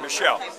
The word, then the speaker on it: Muschal: Am I pronouncing the name right, Muschal or Michelle? Michelle. Muschal, okay, I always get that wrong.